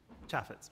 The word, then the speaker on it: Chaffetz: Chaffetz, is that, am I pronouncing that right? Chaffetz, yeah.